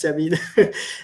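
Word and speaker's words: Chamine: It's called Mhm, it's pronounced Chamin, and mhm, Shazad Chamin.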